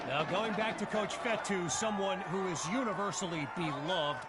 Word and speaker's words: Fetu: So Coach Fetu spelled F-E-T-U for the longest time. I was pronouncing it Coach Feta, like feta cheese.